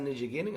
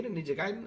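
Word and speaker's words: Ninja Gaiden: though personally I'm I'm hoping it's not ninja gning I'm not interested in that really you're not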